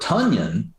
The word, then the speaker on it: Tonyan: Tonyan anyway, like Funyun. Tonyan like Funyun.